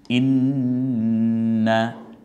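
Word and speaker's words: إِنَّا: এটা যত দিন আপনি দেখবেন এটা কণ্ঠনালীতে মাঝখান থেকে চাপ দিয়ে উচ্চারণ। ইন্না, এখানে শুধু গুণ্য হবে কিন্তু টান আর হবে শুধু গুণ।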